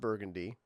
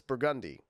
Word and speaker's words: Burgundy: oh that's burgundy street it's not burgundy it's burgundi yeah because that's how that's just how they say it okay yeah but yeah